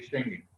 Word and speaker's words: Schengen: ¿Cómo se pronuncia, profesor? Sí, Schengen.